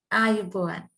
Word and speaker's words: Ayubowan: How do you say goodbye in Sri Lanka? Ayubowan. Ayaboa. Yes. Okay, Ayaboa for now.